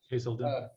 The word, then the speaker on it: Hazelden: He also has completed CD counselor training at, how you pronounce that, Hazelden? Hazelden.